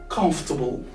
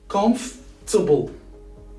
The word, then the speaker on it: comfortable: Now, it's time to talk about comfortable. That's a very challenging word that most people actually mispronounce it. Why? Because they spell the O, R, and T, also A, which is completely wrong. In this specific word, you need to ignore about all of these. So ignore about O, R, and A. So these three letters are silent.